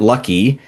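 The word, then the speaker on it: Luki: There's a character uh Lukey or L U KI. Um Thor or Sigard pronounces it Lucky.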